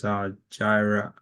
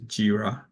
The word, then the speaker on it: Jira: r r a so I think you you pronounce this Gyra right it's not Gyra is jira okay so and also AO Dev something around